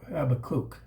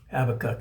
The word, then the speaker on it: Habakkuk: Some people call it Habacook, but it's spelled H A B A K U K. Habacook is how I pronounce it.